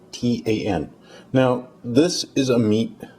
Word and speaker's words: Seitan: Okay, today's Lenten experiment will be making Seitan, or I don't know, maybe you pronounce it Satan, but I'd rather not have Satan in my kitchen, so I'm going to call it Seitan, Seitan.